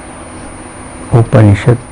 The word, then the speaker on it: Upanishad: the word will function Oh punish it it has three syllables oopah me and shut oh but me cool